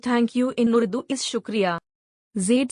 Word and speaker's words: shukriya: words the word thank you in uru Is shukria Zade said slowly making sure Lena could understand each syllable shukria Lena repeated carefully shukria she smiled as she